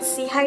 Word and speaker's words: SIHI: CI is and what CHI talks is all about. We are the social innovation and health initiative. See for short, pronounced as CHI, which means upward and forwardlooking. Seihigh is a global network of